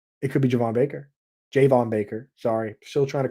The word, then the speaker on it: Javon Baker: could be Javon Baker Jayvon Baker sorry still trying to correct my brain on that it is Jayvon that is that is official from the Patriots handbook Jayvon Baker jayin pulk